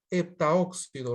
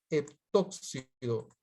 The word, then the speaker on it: heptóxido: Pero ten cuidado, heptaoxígeno, heptaóxido. Recuerda que se dice heptóxido. Recuerda que al oxígeno se le dice óxido, heptóxido.